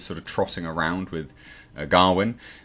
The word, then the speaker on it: Gawain: And of course, Dev Patel played Sir Gawain, which is how they're pronouncing it in the film. Some people say Gawain, but they're pronouncing it as Gawain in the film.